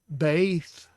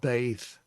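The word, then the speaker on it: בית: So when I see Beith like this, and the modern would actually call it Beit, but I will call it Beith.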